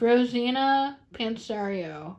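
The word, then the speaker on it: Rosanna Pansino: Yeah, it's Rosina Pansario.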